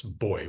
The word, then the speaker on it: buoy: bobber, I'll do a buoy, which in the UK they pronounce boy, which No, disturbs me.